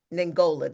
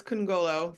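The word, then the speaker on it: Kongolo: Delegate Ngola, did I pronounce that correctly? We're close enough. It's Congolo.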